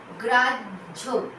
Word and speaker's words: গ্রাহ্য: শব্দের শেষে যখন হ থাকবে এবং তার সঙ্গে হয় জফলা থাকছে তখন কিন্তু উচ্চারণ হবে জ ঝ, জ ঝ, বর্গের জ, ঝয় করে ঝ।